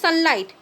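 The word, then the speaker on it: sunlight: तापर देख सनलाइट सनलाइट आम कि सनलाइट सन LIT एतिकी शुभुची ना नहीं जो उच्चारण कर सन LIT GHT नीरव रही जाउची सनलाइट सनलाइट है तमें उच्चारण कले जापर केउटी नीरव रही जाउची GH नीरव रही जाउची खाली सनलाइट या शुभुची एतिकी आमको शुभुची बाकी GHT नीरव रही जाउची तो साइलेंट लेटर होची GH।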